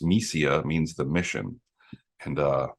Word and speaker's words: Missiya: the festival circuit it's a Russian word pronounced mesia means the mission and